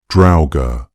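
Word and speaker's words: draugr: The pronunciation that most closely matches the old Norse original sounds something like drower with the first syllable rhyming with the English word cow.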